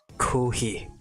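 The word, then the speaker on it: コーヒー: Nah, they don't say it like that. Kohi, aku. They don't pronounce the F.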